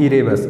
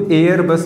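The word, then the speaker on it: Erebus: कौन सा है, माउंट इरेबस। इसी को एयर बस भी कहीं कहीं लिखा होता है बुक में, वो बस उसको प्रोनाउंसिएशन की तरीके से लोग करते हैं इंग्लिश में। तो इरेबस ज़्यादा अच्छा है और एनसीईआरटी में यही दिया गया है।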